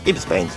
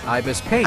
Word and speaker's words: Ibis Paint: Meanwhile, I used my app on my phone, Ibis Paint. Ibis Paint. I'm pretty sure that's how you pronounce it.